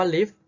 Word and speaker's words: ลิฟท์: ตัว อย่าง กัน ลูก คำ ว่า ลิฟท์ เรา ออก เสียง ว่า อะไร เอ่ย หรือ อ้าว เด็ก เห็น เลย ว่า เขา มี ตอเต่า แต่ ตอน ออก เสียง ไหม ครับ ไม่ ออก นะ เพราะ ว่า ด้าน บน ตอ เต่า มี เครื่อง หมาย ธนาคาร อยู่ นั่น เอง เพราะ ฉะนั้น ตอเต่า บวก